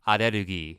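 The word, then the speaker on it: アレルギー: It sounds dumb, but allergy in Japanese is pronounced arerugi.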